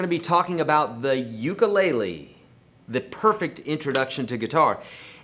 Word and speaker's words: ukulele: the guitar and the ukulele, you are going to understand how the ukulele works. You're going to want to go buy one. And it's actually pronounced ukulele if we're in Hawaii.